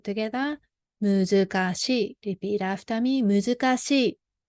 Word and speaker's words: 難しい: So this is a muzukashi, pronounced as muzukashi. So she is put together. 難しい. Repeat after me. 難しい. 難しい.